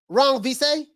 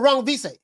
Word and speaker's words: Rungvisai: man what you say al wrong visay or wrong visa okay three syllables wrong visa okay wrong v say